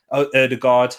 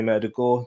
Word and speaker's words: Ødegaard: be able to sign players like martin erdogan erdogard i'll keep quanti murder gore you know that's that's the real pronunciation but we're not going to be able